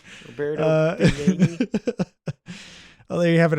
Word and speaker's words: Roberto Benigni: I love if you get his name wrong like every time. Robert Panini, Roberto Beignets, fucking whatever. Roberto Benigni.